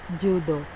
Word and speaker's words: JUDE: Astah, formerly known as JUDE, Java and UML Developers Environment, pronounced JUDO, is a UML modeling tool created by Japanese company Change Vision.